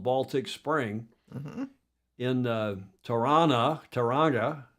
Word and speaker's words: Tauranga: called Baltic Spring, in Tauranga. You don't pronounce the hard G, up there, the big